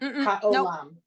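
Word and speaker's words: הָעוֹלָם: Hayolem. Nope. Haolam.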